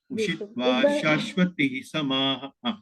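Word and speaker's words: शाश्वतीः समाः: सा बाहर निकालते हुए इस विसर्ग का भी उच्चारण कीजिए शाश्वती समा फिर से कीजिए प्राप्त पुण्य लोक शाश्वती समता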